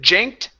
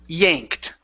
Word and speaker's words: yanked: Now, instead of janked, e yanked. Okay.